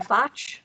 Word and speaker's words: Foch: But I am excited to be able to now introduce and pass it over to Matthew Foch, rhymes with Scotch.